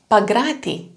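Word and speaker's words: Παγκράτι: Okay, and in the middle it can be a suburb in Athens, Pagrati, Pagrati. So there is a small N and a very voiced G, Pagrati.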